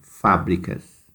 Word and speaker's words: fábricas: Depois vem fábricas. Vocês vão copiar no latão verde, porque é a antepenúltima.